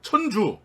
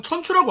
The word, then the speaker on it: 천주: 1998년 본격 닌자 자유 액션 게임 입체 닌자 활극 천주 혹은 천추라고 하죠. 명칭이 많이 홍용되는데 한자상으로는 천주가 맞습니다. 천추는 일본식 발음이래요.